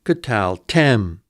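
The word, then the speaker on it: קְטַלְתֶּם: Tem is the accented syllable. In this case, then, tal is a closed, unaccented syllable, which must be short. K is an open pretonic, which by rule generally reduces to schwa.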